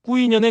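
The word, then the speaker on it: Quy Nhơn: 퀴년 현지 발음은 꾸인년에 가깝습니다.이 도시는 베트남 빈딘 성의 바닷가 도시이자 행정과 물류 관광의 중심지예요.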